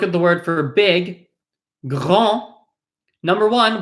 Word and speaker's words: grand: We look at the word for big, grand. Number one, we do not pronounce the D. And then we notice we have an A-N, which is pronounced on. This is not an, right? Grand.